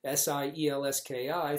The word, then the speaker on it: Sielski: If you ever, S-I-E-L-S-K-I, think of a seal on two skis going down a ski slope. Sielski, that's a simple way to remember it because the pronunciation trips up a lot of people.